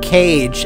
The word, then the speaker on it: Kage: Kage, or Cage, as his name should be pronounced.